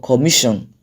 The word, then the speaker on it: commission: Same goes for commission and the third one, which is rejection. So if you count from the back of the word, it is the second syllable from the end of that word.